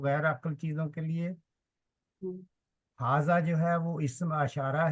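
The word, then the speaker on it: هٰذا: یہ لکھا ہوا ہے کہ ہاذا is pronounced ہاذا but it's written without the first alf.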